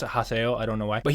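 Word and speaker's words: Haseo: because you write it with I would have pronounced his name Naga Tani o but apparently you pronounce it Haso I don't know why but he was the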